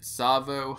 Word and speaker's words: Tsavo: It is week number 13, and the missions for this week are Sierra 117, Crow's Nest, and Tsavo Highway. Yes, I pronounced it correctly this week.